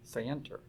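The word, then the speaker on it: scienter: because of strict liability knowledge the legal term is spelled s-c-i-e-n-t-r say enter and there was there were statutory schemes all over the country that that are devoid of any sander and they say we don't care i think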